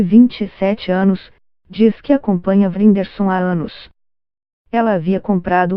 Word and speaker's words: Whindersson: Vrinderson, pronuncia-se Whindersson, diz achar que seu sucesso fora do Brasil não se deve tanto às suas habilidades cômicas.